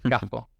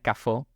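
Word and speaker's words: kafo: Cafo, que obviamente es café. Claro, no es cafó con acento en la O, sino que es cafo con acento en la A.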